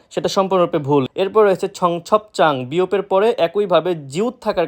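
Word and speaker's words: 청첩장: কেউ যদি উচ্চারণ করে জাং, সেটা সম্পূর্ণরূপে ভুল। এরপর রয়েছে ছং ছপ চাং, বিয়োপের পরে একইভাবে জিউত থাকার কারণে চাং জিউত উচ্চারিত হয়েছে, যার অর্থ বিয়ের নিমন্ত্রণ কার্ড।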